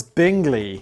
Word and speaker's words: Bingley: the strongest contender is the binge lis arms oh it's Bingley but we could call it binge Lee couldn't wait the Bingley